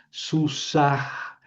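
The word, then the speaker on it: סוּסָהּ: Susah. ¿Por qué la pronuncias, Javier, si está al final? Porque lleva un mapic. No es dages, es un mapic.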